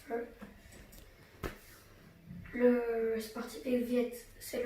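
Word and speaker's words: phở: Vous pouvez penser que ça se dit faux, mais ça se prononce pho.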